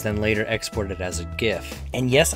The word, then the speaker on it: GIF: later exported as a gift and yes I'm still pronouncing it gif I don't care what anyone else says GIF does not make sense but anyway I think